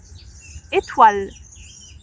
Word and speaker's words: étoile: Ici c'est e le son E parce que et bien en français on a des accents sur les lettres sur les voyelles mais E A B C D E. Et là nous dirons étoile et pas e mais l'accent ici étoile, il y a un s.